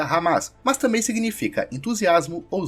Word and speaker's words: Hamas: Foram esses grupos que fundaram em 1988 o Movimento de Resistência Islâmica, cuja sigla em árabe se pronuncia Hamas, mas também significa entusiasmo ou zelo.